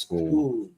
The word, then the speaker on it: Scull: I was saying skull, but I know it's pronounced school.